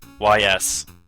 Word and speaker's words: Ys: I believe that's how the game's pronounced. YS.